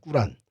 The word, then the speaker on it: 꾸란: 어렸을 때 그렇게 배웠는데 코란이라고 그러는 이제 이슬람 사람들이 싫어합니다. 제 정확한 발음이 꾸란입니다. 꾸란.이 이 꾸란 37장 123절에서 132절에 어 내용이 이런 얘기가 있어요.